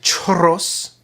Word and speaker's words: churros: churros. You have to roll your R's.